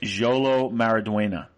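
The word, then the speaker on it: Xolo Maridueña: and can you please can you please repeat that name Jolo mariduena that's how you pronounce I really want to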